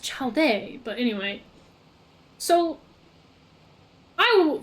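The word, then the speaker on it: Childe: the all devouring narwhal I think it's pronounced child day but anyway so I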